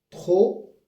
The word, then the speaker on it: trop: trop ou bien très alors le p ici c'est un c'est une consonne nuette on la prononce pas sauf lorsqu'il y a une voyelle qui suit comme trop intéressant très important mais très est très à